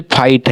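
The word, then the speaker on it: fight: जैसे ये जी एच टी है ना जी एच जी एच हमारा जो इसको साइलेंट होता है। जैसे फाइट है। ऐसा लगता है ना कि एफ आई टी फाइट लेकिन जी एच टी होता है। इसमें एफ आई जी एच टी आप इसे पढ़िए।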